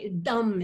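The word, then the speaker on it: Tâm: Well, I knew that it was going to be the major part of Tam. That's how Dum is how you pronounce it in Vietnamese.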